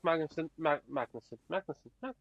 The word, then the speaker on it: Magnussen: Look, I like Magnussen.